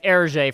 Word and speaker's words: Hergé: Known by his pen name Hergé from the French pronunciation of his initials, yes.